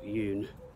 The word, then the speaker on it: 윤: word the surname is always at the beginning yoon which is her surname so it's the other